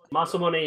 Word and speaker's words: Masamune: did something stupid I got the mamun or masamune or whatever you want to how is how is that pronounced for you masam mamun okay I've heard so many different ways masamune masamune is the actual correct pronunciation of a Japanese name that's the that's